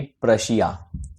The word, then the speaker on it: Prussia: State बनी हुई थी, प्रशिया। जी हाँ, PRUSSIA। बहुत लोग इसको रशिया समझ लेते हैं पी को साइलेंट करके, तो ऐसी गलतफहमी मत पालिएगा। पी जो रशिया है वो अलग है, प्रशिया अलग है।